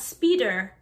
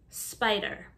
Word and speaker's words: spider: letter dragonfly dragonfly spider the eye has a long i sound not speeder spider cockroach or cockroach so